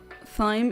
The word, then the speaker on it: thyme: Thyme is pronounced like time.